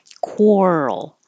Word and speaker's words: quarrel: squirrels are quarreling quarreling make sure you take time from the r to the L quarrel it's that rule that if you go too quickly it will sound like it's missing quarreling instead of quarreling